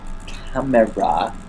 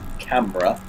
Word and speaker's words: camera: camera at his seat that's camera by the way three syllables not two it is camera not camera anyway he records his